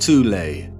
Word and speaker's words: Thule: called The Soul Society sometimes alternatively pronounced toulay that had sub-factions within